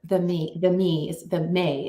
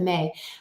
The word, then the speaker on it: me: to be gifted the May is what it's called. It's spelled Me, but the May, from her grandfather Enki,